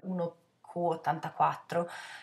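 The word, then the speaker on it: 1Q84: 1900 84 c'è eh 1 q84 se Wikipedia non mi tradisce Q si legge come nove in giapponese quindi il gioco di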